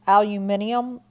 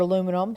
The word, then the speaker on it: aluminium: number of valence electrons aluminium as the British say or aluminum has three so it's